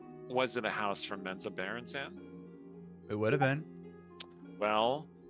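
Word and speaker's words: Menzoberranzan: And I'm pronouncing that Menza Berenzan because that's the way Bob Salvatore pronounces it.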